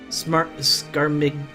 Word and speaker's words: Scarmiglione: The G is silent? Scarmiglione?